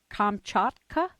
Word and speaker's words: Kamchatka: well as Bear Man of, how do you pronounce that part of Siberia? Kamchatka, a BBC special in 2006.